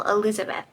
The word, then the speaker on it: Elizabeth: more did it too she came down very hard on the second syllable Elizabeth I liked this especially